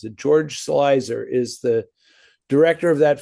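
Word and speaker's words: George Sluizer: Uh George Slicer. Doesn't look like that's how you pronounce it, but that's how you pronounce it. George Slicer is the director of that film.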